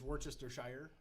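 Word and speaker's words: Worcestershire: too except for wor no one could pronounce that right worshire right A Plus how's it I tell everyone it's Worchester Shire most people just say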